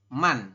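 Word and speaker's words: 만: 10.000 penyebutannya adalah man. Kalau tadi 100 adalah baek, kalau 1000 adalah con, ya. Kalau 10.000 penyebutannya adalah man, seperti itu.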